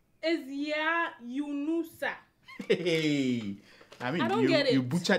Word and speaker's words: Yunusa: My second name is not Yanusa. It's Yunusa.